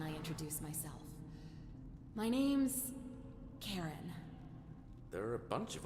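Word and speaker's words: Charon: it's just as you described it only your pronunciation is a little off the name you heard wasn't oh the other Karen c h a r o n wait if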